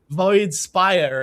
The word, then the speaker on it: Void Spire: How do you is it Void Spear or Sphere? Or I wasn't sure how to say it. Void Spire.